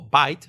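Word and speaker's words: Veidt: Bueno, pues haceros esta pregunta, porque si queremos entender a Ozymandias, a Adrian Bates, o Bite, como se pronuncia también en la película, aquí nos vamos a quedar con Bite, Adrian Bates, es la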